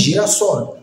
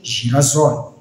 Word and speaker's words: girassol: O S que está lá contido ajuda-nos a fazer com que a pronúncia da mesma, ou com que o som que nós iremos usar para pronunciar permaneça. Sendo então, se não tivéssemos o S aí contido, não diríamos girassol, mas sim girasol.